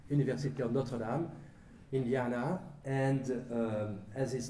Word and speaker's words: Notre Dame: We use the French pronunciation after all. University of Notre Dame, Indiana.